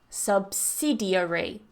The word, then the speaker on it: subsidiary: distribution distributor number 27 there are two different ways to pronounce this like we talked about before we could also cut a syllable in this word so we have subsidiary subsidiary subsidiary but if you want to cut the syllable to make it a little bit easier subsidiary subsidiary yeah absolutely I I always do that like I I use the second example with the cut